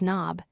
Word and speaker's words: knob: The K is silent. We pronounce it as knob.